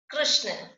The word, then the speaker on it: कृष्ण: और इसका र का उच्चारण होता है इसमें, कृष्ण। क र श ण। तो किसका, इसकी आवाज किसकी आती है, री की आती है, कृष्ण और कृपा।